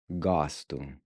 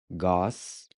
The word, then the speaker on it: gosto: Gosto. Gosto. Gosto. Gosto, as we saw in lesson 1, means I like. Again, notice how the first O is pronounced like the A in awesome. Gosto.